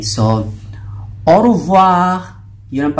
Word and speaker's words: au revoir: So, au revoir. Yun ang pagbigkas dyan.